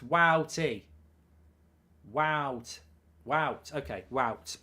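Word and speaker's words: Wout: him you should know you don't pronounce voot as wood but as well like you say cow greetings from that what you should know you don't pronounce voot as would but as woo wow like you say cow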